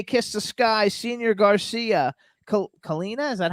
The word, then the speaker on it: Kalina: We have Devil's Train, Special Day, Kiss the Sky, Senior Garcia, Kalina, is that how I pronounce Yep, it? yep. Kalina, Still Crazy After All These Years, Little Things,